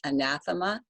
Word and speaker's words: anathema: the night is anathema and that's how you pronounce it anathema it is a noun and it means right